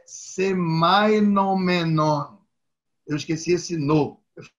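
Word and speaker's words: σημαινόμενον: Sim, mas antes eu queria só dizer uma coisa, pessoal, que eu estava certo mesmo, eu só não pronunciei muito bem. Significante é semainon e significado é semainomenon.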